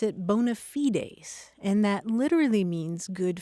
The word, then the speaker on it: bona fides: It was borrowed intact from Latin and it's spelled the same way B O N A and then a separate word fi ds. And in Latin you pronounce it bonafides and that literally means good faith.